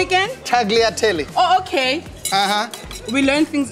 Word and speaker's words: tagliatelle: got uh the movie sorry how do you pronounce that name again tagliatelli oh okay we learn things we learn things